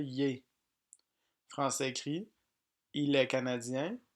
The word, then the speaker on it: il est: Il est prononcé yé.